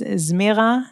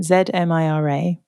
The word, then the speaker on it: Zmira: So, her name is Zmira Cinnamon, Zmira.